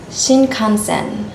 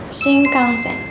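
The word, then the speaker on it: 新幹線: do you pronounce this word some non-japanese people pronounce this word like shinkansen shinkansen but we don't pronounce this word like shinkansen the right pronunciation is shinkansen so it's not like like n but it's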